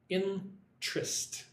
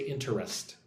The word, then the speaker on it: interest: When I say that word, I say it like two syllables. Interest. I do not say interest.